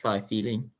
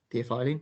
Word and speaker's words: theophylline: Yes, thiophyllene, theophylline, I think, Anush.